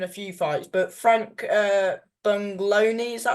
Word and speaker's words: Buglioni: But Frank Bungloni, is that how you say it? You lost on Frank unanimous Buglioni. decision. Frank Buglioni, yeah, that was my first step up.